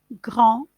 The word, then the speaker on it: grand: ne prononce pas ri grands se termine par une des voies la prononce pas grand blond estomac blanc dans